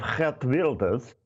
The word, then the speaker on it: Geert Wilders: Hence, and I hope you're going to be impressed with the correct pronunciation, the election of Geert Wilders in Holland.